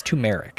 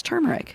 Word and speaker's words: turmeric: this color is turmeric it's tumeric it's turmeric look how it's spelled spiral though tell me